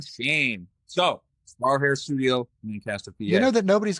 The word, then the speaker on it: Lancaster: I've spent enough hours and days there that I know how to say it. Lancaster. There's no E in it, my friend.